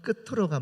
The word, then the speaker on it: 끝으로: 그 외에는 다 티귿 발음 납니다. 그래서 끝으로가 맞고요. 근데 이가 되면 끝이, 같이 이렇게 치읓 발음이 되는 겁니다.